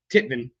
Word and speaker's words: TITVN: Titan, that's Titvn. Titvin, as Jen likes to refer to them. Titan Band, or Titvin Band, however if you're going phonetically on YouTube.